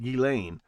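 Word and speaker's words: Ghislaine: It's pronounced Gileain. What you need to be thinking is the tubes have ears. Sitting in the hot tub with Galain getting back rubs on Lolita Island airport.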